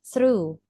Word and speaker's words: through: Because we have GH here. Ada huruf GH di sini. Sister ini bacanya gimana? Thug thruk apa gimana, Sis? Ternyata ini silent para momi.